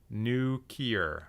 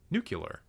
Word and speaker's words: nuclear: unforgivable absolutely Unforgivable TJ you say nuclear like George W bush new Kier I I pronounce the L nuclear nuclear if anything I pronounce